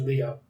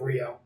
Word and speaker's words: Rio: Ranger on kiss Asia the subs on kiss agent say his name is Leo instead of Rio yeah just um I